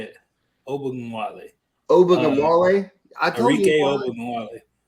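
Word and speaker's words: Ogunbowale: Ogunwale.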